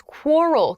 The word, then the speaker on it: quarrel: the next word is quarrel quarrel this is a great pronunciation Point quarrel quarrel work on that that cute u sound qu qu quarl quarrel